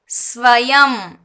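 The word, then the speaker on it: स्वयं: இப்போ இதுக்கெல்லாம் பார்த்தீங்கன்னா மேலே இந்த மாதிரி புள்ளி வந்திருக்கு அப்படின்னா ஸ்வயம் இம்மு ப்ரொனன்சியேஷன்ல சொல்லணும். இது ஸ்வயம், சிவம், இதை வந்து இம்முன்னு ப்ரொனன்ஸ் பண்ணணும். சிவம், ஸ்வயம்.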